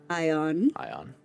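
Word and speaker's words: Aion: Ion. It's spelled A-I-O-N, but it's pretty much just pretending like the A is silent. Silent Ace, got it. Yes, so you can just literally say Ion.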